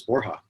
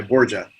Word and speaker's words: Borja: it Georgia or Borja it's Borja is the official pronunciation actually went by Borja for